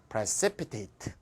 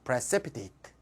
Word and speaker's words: precipitate: AT는 두 번째 앞에 액센트예요. precipitate. 따라해봅시다. precipitate.